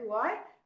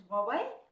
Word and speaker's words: Huawei: Some people say Huawei, but apparently the right pronunciation is Huawei.